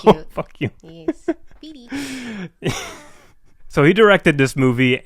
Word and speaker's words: Fede: can't pronounce his name, it's not Fede. I've heard you guys say Fede. It's Fede. Say it with me, Fede. Fede. Yes. Fede. I like Fede better. It sounds cute. Fuck you. Yes. Fede.